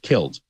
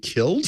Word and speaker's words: kiln: And now it has to be killed, dried. And so that is. And now it has to be killed? K-I-L-N. He's pronouncing it properly. Killed. I was okay. Killed is how you say it, though.